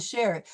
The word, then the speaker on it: cher: And you'll notice that we will be pronouncing the French R in par and cher. It will have that uvular L, par, cher. So it won't be par and share, it'll be par, share.